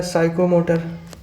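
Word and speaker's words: psychomotor: Question number 75, which letter is silent in the word साइकोमोटर? बिल्कुल, सा से start हो रहा है, साइकोमोटर, तो हमें पी क्या है इसमें? साइलेंट हो जाएगा।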